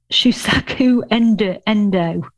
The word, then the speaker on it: Shusaku Endo: Shusaku Endo. Now that wasn't pronounced very well, was it?